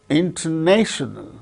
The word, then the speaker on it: intonational: Similarly, intonational, intonational, intone. So, the third syllable gains a primary stress, first syllable gains secondary stress.